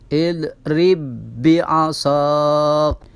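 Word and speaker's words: اضْرِبْ بِعَصَاكَ: Di situ huruf ba yang pertama berharokat sukun, kemudian huruf ba yang kedua berharokat kasrah. Maka ini cara membacanya dengan mentasydidkan atau memasukkan huruf ba yang sukun kepada huruf ba yang kasrah.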